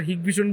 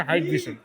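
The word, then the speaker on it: Hikvision: হাইক ভিশনের হিক ভিশন বললে পরে জরিমানা হয়, সঠিক উচ্চারণ হচ্ছে হাইক ভিশন।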